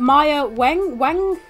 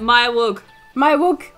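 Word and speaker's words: Maya Weug: Maya Wang? How do you say it? Maya Wug.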